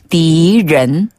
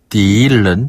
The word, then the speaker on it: 敌人: 적자를 중국어로 디라고 읽어요. 디. 그리고 사람을 른. 른. 네, 사람 인자를 른으로 발음해서 적은 디른. 디른. 디른. 디른. 네, 여기서 른 발음은 혀를 살짝 말아서 입천장에 달랑말랑.